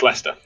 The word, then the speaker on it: Leicester: about a country that calls Lester Lester instead of the way it sounds it's spelt to sound like Chester it's Lester you want worse there spell